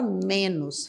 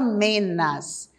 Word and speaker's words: menos: Não existe a palavra menas. Portanto, não se pronuncia jamais a palavra menas. É sempre menos, tá bom?